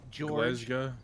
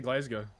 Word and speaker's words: Glasgow: Some people see Glasggo. Why don't you say Glasggo? No, I say I say glazgo. Glasgow. That's how you say it.